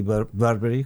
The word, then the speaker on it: Burberry: eh, en Burbery, en Por cierto, aquí Burbery, que no sería las un poco la pronunciación correcta, mi inglés no es perfecto, aquí se conoce por Burberris, o sea, si alguien